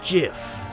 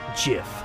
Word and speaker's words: GIF: your head like a gif truth it's pronounced Jiff huh dot Jiff like the peanut butter the Creator said so that's dumb it's Graphics